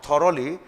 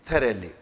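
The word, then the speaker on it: thoroughly: pronunciation AIDS एडुसर this the pronunciation of this word is थली where as most of the students pronounce it ए थोरली इट्स नॉट थली इट्स थली clear in the same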